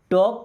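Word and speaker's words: talk: टॉक टू मी। देखिए इस टॉक word में एल साइलेंट होता है।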